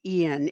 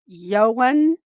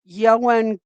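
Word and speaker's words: Ioan: Um, his name is, uh, she pronounced it right, but most people are pronouncing it Ian. It's Yoan Yoan Griffid Gruff.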